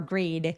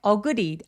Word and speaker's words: agree: 강세는 두 번째 소리에 오기 때문에 agreed 아니고 agree. 어에서는 힘을 쫙 빼주세요.